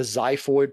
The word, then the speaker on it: xiphoid: going to be the xiphoid process so if you want how to pronounce that x word it's xiphoid with like a z it sounds like a